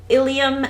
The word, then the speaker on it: ilium: bone in your wrist ilium and ilium these aren't even pronounced differently um instead of an